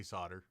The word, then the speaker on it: solder: i need to know do you pronounce the ellen saul solder solder i say solder i'm canadian i'm not